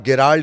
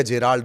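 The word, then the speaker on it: Gerald: तीसरा, जिसे आप गेराल्ड या जेराल्ड, दो नाम कहते हैं, ये प्रोनाउंसिएशन का मामला है। उसकी स्पेलिंग दरअसल GE से शुरू होती है, तो कोई गेराल्ड बोलता है, कोई जेराल्ड बोलता है।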